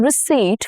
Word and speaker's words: receipt: Please keep the receipt for your purchase. Here P is silent. English borrowed this from French and the P stayed in spelling but disappeared in sound.